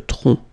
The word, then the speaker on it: tronc: Okay, remember, final C is not pronounced here. Le tronc.